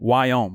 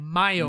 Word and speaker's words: MIOYM: WIOM, right? MIOYM. MIOYM. MIOYM. He keeps saying the Y. Yeah. He keeps You saying can like go for Wyoming. it. You gotta stick to it now. MIOYM.